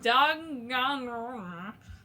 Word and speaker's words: Danganronpa: You can watch her new installment on Chapter 4 of Danganronpa V3. That's exactly how you say it. That's the official pronunciation.